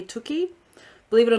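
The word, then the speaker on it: Tucci: The first book I want to talk about today is Taste by Stanley Tootie. I'm so sorry. I think his surname is built is pronounced Stanley Tuchi. It could be Stanley Tuki.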